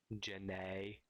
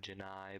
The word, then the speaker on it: Jenny: but it happens but Forrest Gump pronounced Jenny more like Janae instead of Janai but you know that's